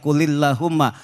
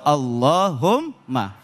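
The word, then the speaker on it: اللَّهُمَّ: Jadi enggak dibaca kulillahumma, tapi bacanya langsung Allahumma.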